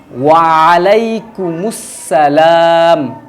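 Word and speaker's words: وعليكم السلام: ওয়া আলাইকুমুসসালাম।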